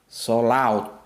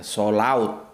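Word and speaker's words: صلوة: Sholaut. Jadi gitu bacanya ya. Sholaut.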